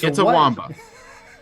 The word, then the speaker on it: Itawamba: Itawamba County. Did you say Itawamba? Say that again. Itawamba. It's Itawamba.